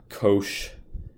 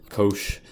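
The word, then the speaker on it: cosh: and over again so people usually just say coach I don't know how else to spell it maybe with an A or something coach but that's how you say that and then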